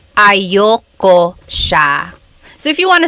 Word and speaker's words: ayaw ko: Usually it's pronounced ayoko siya.